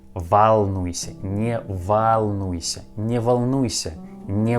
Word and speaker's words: волнуйся: In this word волнуйся, letter O we pronounce like а, волнуйся, not волнуйся, волнуйся, не волнуйся, не волнуйся, не волнуйся.